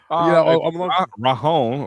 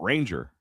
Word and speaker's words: Ranger: It's not Ranger. It's like Rahon or Rahar or something like that.